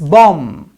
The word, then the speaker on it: bomb: without that sound so there is no b sound here it's bomb okay and the rule